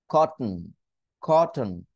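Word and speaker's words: cotton: পারবো কিভাবে একটু দেখেন কটন কটন তাহলে কটন এই জায়গায় আমি স্টপ করতে পারি পারবো খট খ টি টাকে উচ্চারণ করবো না খট এরপরে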